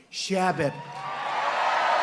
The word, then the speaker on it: Chabot: Congressman Steve Chabot. Great guy. Come up, Steve. Come up, Steve. You pronounced it right.